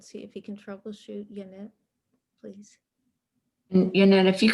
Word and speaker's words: Janet: Sorry, I can't hear you at all, Janet. Yanette, you don't appear to be muted, but we're not hearing anything from you.